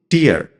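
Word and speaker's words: tear: ঠিক তেমনই আছে টিইএআর, একে আমরা সাধারণত বলি টিয়ার, মানে অশ্রু বা চোখের জল। কিন্তু একেই যদি কেউ উচ্চারণ করে টেয়ার, তখন তার অর্থ হয়ে যাবে ছিঁড়ে ফেলা, টু রিপ, টু পুল অ্যাপার্ট।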